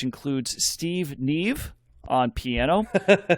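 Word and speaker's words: Nieve: available neve on piano steve steven i think i'm pronouncing that right it's n-i-e-v-e yes or naive but i got it uh yeah there you go either steve neve or steve naive would both be awesome so it's probably neither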